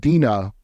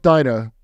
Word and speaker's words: Dinah: It's pronounced Dinah, by the way, not Dinah.